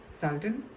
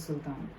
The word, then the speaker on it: Sultan: I mean, with the English accent, it's usually Sultan, and in the Hindi pronunciation, it's Sultan. So, the universe is telling